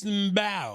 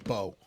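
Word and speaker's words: Mbow: it's just actually no it's just bow like a bow and arrow but you there's a silent M it's Marcus bow the M silent okay so I that's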